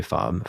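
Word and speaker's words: Fabre: a book by JH fob um Jean hry fob fob is spelled f a b re e he's a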